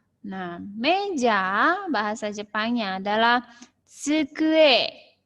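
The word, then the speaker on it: つくえ: Nah, meja bahasa Jepangnya adalah tsukue. Sensei eja saja. T S U K U E. Jadi pengucapannya tsukue.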